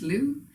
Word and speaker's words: Lugh: the irish sun god lu spelled l-u-g-h but pronounced lou this very special deity